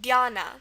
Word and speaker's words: dhyana: E sound, D, but we're not spelling it with an I, we're spelling it with a Y, because this is also pronounced Dhyana. There's two pronunciations, Dhyana and Dhyana.